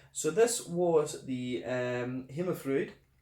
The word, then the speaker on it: Himmelfryd: this was the um Hymn of fruit uh him a fruit to give it the Danish pronunciation a Pilsner beer at